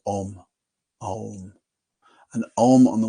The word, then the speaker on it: om: smaller ah just you just open your mouth and ah is what comes out and when you start to close your mouth becomes o and when your mouth closes completely M oh and those